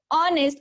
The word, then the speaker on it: honest: First sound of this word honest is O. Okay, first sound is O.